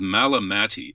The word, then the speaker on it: Malamati: quite get it yeah it's spelled malamatti m-a-l-a-m-a-t-i the melamati Sufi tradition